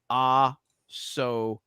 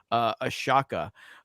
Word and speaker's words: Ahsoka: And then Stephen Wasick for 20 says, for fuck's sakes, people, it's spelled Ahsoka. Ahsoka. It's one thing to meme on it. It's another for everybody to constantly be butchering it as Ashaka.